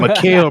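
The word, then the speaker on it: Mikal: Austin Reeves, Paulo Banchero, Malachi Bridges. I feel like I'm butchering his name for some Mikhail. reason. Mikael Bridges. I knew I was saying it wrong.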